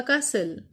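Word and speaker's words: castle: विसल, विसल में टी की sound नहीं आती, हमने लिखा कैसल। एक हमने लिखा लिसन, कैसल मीन्स किला, लिसन मीन्स सुनना। तो ये दोनों वर्ड्स हैं जिसमें हमने टी साइलेंट किया है, जैसे कि हमें एग्जाम्पल में दिया गया था।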